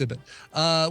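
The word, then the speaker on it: Ibbott: Recently, on episode 33, they interviewed none other than Coverville himself, Brian Ibott. Ibott. Never heard of that guy. That's how it's pronounced. Yeah. I think it's Ibott, yeah. It's Ibott.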